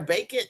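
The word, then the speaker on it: Bakin: been a good He said, "Do you like the Nike bacon and I could wear this with this jersey?"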